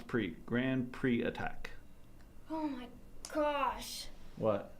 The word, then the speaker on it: Grand Prix: pre let pronounce pre Grand Pre attack oh my gosh what words are so weird why is the X silent if the x is silent don't have it there it's just the way